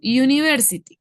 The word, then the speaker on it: university: En este caso, university. ¿Cómo es la pronunciación? ¿Cómo cae el sonido consonántico sobre la pronunciación y university? Como un U. University. Es un sonido consonántico.